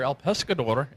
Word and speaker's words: El Pescador: El Pescador, am I pronouncing that right? Yes, you are.